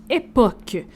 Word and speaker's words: Époque: Oui, là on n'est pas certain de la prononciation mais on va y aller comme sui parce que c'est un groupe français donc époque comme tu sais les époques.